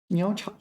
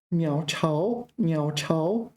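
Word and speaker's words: 鸟巢: 鸟巢. Oh, my pronunciation is wrong. 鸟巢.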